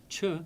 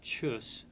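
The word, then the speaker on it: ཆོས: Chu the word for dharma would be transliterated ch h o s. The cha stands for the ch stands for the letter cha. The o for the naro nar o and the saw becomes s. But no one pronounces that word chus.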